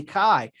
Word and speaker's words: Caye: they could say tomato many people pronounce my last name but i say kai we're still talking about